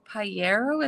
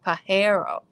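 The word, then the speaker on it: pájaro: saying it right piero it was spelt p-a-j-a-r-o j is like an h that's great pierrot a hero sorry pahero is that better nest is neato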